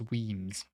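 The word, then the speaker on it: Wemyss: guruk scale Moy and how do you think you pronounced this is not Weis it's weams weams Bay um kill mum or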